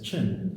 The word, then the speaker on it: Qin: Today we pronounce Qin as Qin.